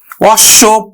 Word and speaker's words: অশ্ব: শব্দের মধ্যে বা অন্তে বাবা বা শেষে যদি বফলা থাকে তাহলে বফলা যুক্ত বর্ণটি দ্বিত উচ্চারিত হয়। অর্থাৎ দুইবার উচ্চারিত হবে।